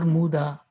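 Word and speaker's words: mudā: I always get confused whether I have to pronounce it as Mudha or Muda.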